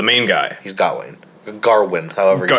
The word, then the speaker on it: Gawain: smells good Wayne but it's pronounced maybe pronounced a couple different ways because like the king pronounces it Gerwin then people call him Gowen or Gawain it's yeah I don't